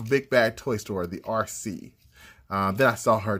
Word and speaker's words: Arcee: least the autobot uh rc and i almost call it a cree or acory because when i was a kid that's how i thought you pronounced her name so yeah some habits